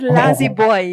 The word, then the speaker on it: Lazzybwoy: Is this the right pronunciation? Hey, please Boy, manage. I yeah. see. Is it Lazzybwoy?